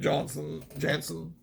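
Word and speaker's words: Janson: cover, coincidentally drawn by Klaus Johnson, or Janssen, however you would say his name, but Janssen. I've heard pronounced other ways.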